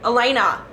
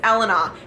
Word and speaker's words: Elena: And I just want to reiterate, if you're Italian, the name is not Elena. The name is not Elena. If you are Italian, the name is Elena. And it irks me to no extent that people mispronounce it.